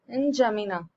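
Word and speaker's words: N'Djamena: फिर आता है चैड, और इसका कैपिटल है इंजामिना, यहाँ पे डी साइलेंट है।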